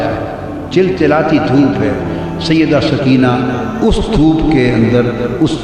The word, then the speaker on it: سکینہ: سیدہ میں عرف عام کا لفظ استعمال کروں گا، تلفظ بتا دوں. سکینہ، سیدہ سکینہ، سیدہ سکینہ.